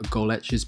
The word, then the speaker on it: Golec: this athlete to you today i have vanessa goletch's page up here um i did double check with her about the pronunciation she was even kind enough to send